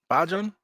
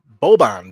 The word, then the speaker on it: Boban: I can't pronounce his name. I think what's his first name? Bajan? Yep. Boban.